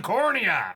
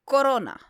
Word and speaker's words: corona: That wouldn't cause much havoc on the sun, even if it plunged into the cornea. Corona. Cornea. No, well, I mean, it's corona. It's pronounced corona.